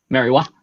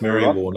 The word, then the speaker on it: Merriwa: Merriwa. It's pronounced Merriwar, not Merriwa, and not Merriweather, Mr.